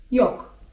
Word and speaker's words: yok: war) A 'nie ma': yok (czyt. jok) yok (czyt.